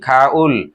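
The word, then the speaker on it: 가을: তাহলে আমরা কোরিয়ান সেটি উচ্চারণ কি হবে, যেটা বসন্তকাল ছিল সেটা কি ফোম, যেটা গ্রীষ্মকাল ছিল সেটা কি ইয়রুম, যেটা শরৎকাল ছিল সেটা কি খাউল, যেটা শীতকাল ছিল সেটা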